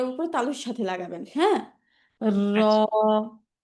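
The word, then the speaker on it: راء: মাশাল্লাহ এখন হচ্ছে আমাদের র উচ্চারণ করার পালা র শব্দটা হচ্ছে মোটা শব্দ এটা হচ্ছে জিহ্বাটাকে উল্টো করে উচ্চারণ করতে হয়তো সবাই জিব্বাটা উচ্চারণ উল্টো করে উচ্চারণ করব একটা আমরা একটা আওয়াজ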